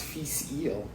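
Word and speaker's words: Fèis Ìle: pronouncing but this is now i know pronounced feast eel which is the music festival unfortunately they did not have in scotland this year it's 53.3 percent um 1997.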